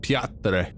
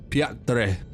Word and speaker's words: Piotr: Apparently you're supposed to pronounce it Piotr. Piotr. It's like Swedish or something like that for like the Peter.